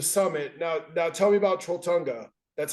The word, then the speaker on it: Trolltunga: Now tell me about Trolltunga.